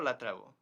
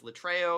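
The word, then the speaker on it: λατρεύω: Proskyneo, latrevo. I say latrevo. He probably says lutreio or whatever.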